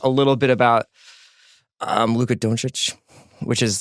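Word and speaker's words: Dončić: we're gonna talk a little bit about Luka don't rich which is like kind of like become I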